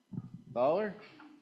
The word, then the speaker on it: Fowler: Fowler? Rhymes with taller, according to my pronunciation key.